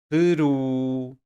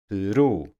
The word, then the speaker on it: Peru: Any word with any of these endings will be stressed on the last syllable. Ali, feliz, Peru, Jesus. You see? Or can you hear? Last syllable, the stress.